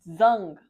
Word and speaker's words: Dung: Oh, I've been saying dung. It's pronounced zung.